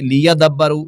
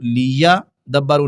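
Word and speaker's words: لِيَدَّبَّرُوا: لیدبروا، لیدبروا پڑھیں گے، لیدبروا، لیا دبروا نہیں بلکہ یا کو دال پر ماریں گے، دال کو با پر، تو پھر یہ لفظ صحیح طور پر ادا ہوگا، مبارک لیدبروا آیاتی۔ اس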